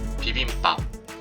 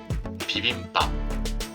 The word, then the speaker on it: 비빔밥: and the subsequent initial consonant 'ㅂ' (bi-eup) is pronounced as double consonant 'ㅃ' (ssang-bi-eup) As a result, Koreans